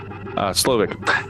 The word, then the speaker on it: Slowik: I always want to pronounce that W like a V, like it's Slavic. Slovak, as he would do for all succeeding dishes.